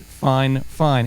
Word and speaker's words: Fifine: me they they said this is how you pronounce it fine fine in princes but whatever